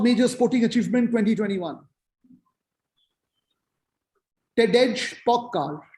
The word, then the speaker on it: Pogačar: Tadej Pogačar, T-A-D-E-J, Tadej. Pogačar, actually, not Pogačar in the pronunciation.